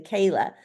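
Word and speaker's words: ceilidh: the the traditional dancing the Kayla which you know the way it's spelled c i l DH uh you know I would never get that pronunciation I mean I would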